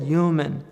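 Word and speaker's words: يُومِن: So that's their language, to say yu'min. The Prophet said yu'min. He didn't pronounce the Hamza.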